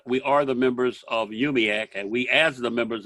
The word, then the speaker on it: UUMUAC: multiracial unity action council yumiak pronounced yubiak aka the mack our